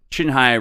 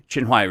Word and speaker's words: Qinhuai: think that's how you say it, over the Qinghai River. Qinhuai River.